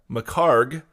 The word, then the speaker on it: McHargue: Macarg.